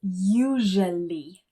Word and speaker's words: usually: Now, the second word that we're going to look at is usually. Usually, just 3 syllables.